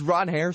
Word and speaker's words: Ranger: You understand, it's Ron Hare, the pronunciation. Ron Hare.